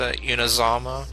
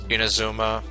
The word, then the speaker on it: Inazuma: this going to be how we get into unizama inazuma i keep mispronouncing that uh where where even is the